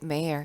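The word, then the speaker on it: mayor: 계속 들어보도록 할게요 아쉽게 mayer 시작이 등장하지는 않았네요 여러분 참고로 알아두세요이 시장이라는 단어는요 미국식은 mayer인데 영국이나 호주식으로는 매여 매에요 되게 독특하게 발음이 되기도 합니다 그래서 막상 귀로 듣고도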